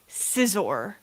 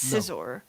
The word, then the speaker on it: Scizor: It's actually pronounced Josh corrects me on this one all the time. Scizor. It's Scizor.